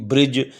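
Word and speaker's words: bridge: सा साउंड नहीं होगी इस तरह के दरमियां में ए जाए आखिर में ए जाए तो उसमें दी का तरफ नहीं किया जाता दी साइलेंट लेटर होगा जैसे एज इस तरफ बी आर आई दी जी ब्रिज ये इस तरह मसाले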